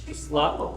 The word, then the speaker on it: Shluap: Manan is chicken right if you say it in two syllables slap is to kill don't say in two syllables okay you got say slap okay so one syllable is Wings two syllables is the kill okay so uh so